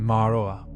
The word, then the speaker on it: Ma'arue: Ma'arue, keeper of thresholds, pronunciation Ma'aroa.